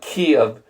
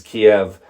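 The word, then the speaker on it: Kyiv: say it right but Kiev is the closer pronunciation uh versus Kiev which is the Russian which obviously nobody wants to share that anymore.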